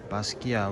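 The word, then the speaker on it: Basquiat: point of ice 1984 the t is silent so Basia wrote 47 up here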